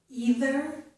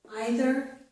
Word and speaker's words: either: Also, with these two words, I pronounced this first vowel sound as E. Some people pronounce it as I, which is also correct.